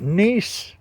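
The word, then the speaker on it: gneiss: is uh called uh they call it nce but the way it's spelled is G NE e i SS Janice I'm pretty sure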